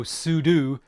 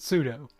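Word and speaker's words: sudo: saying pseudo stands for super user do so Pudu makes sense instead of pseudo I used to pronounce it pseudo there's a great comic I think it's X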